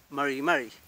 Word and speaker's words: mari: Por ejemplo, el mismo caso de Mari, el más conocido, y a veces nos complica un poco, que es Mari.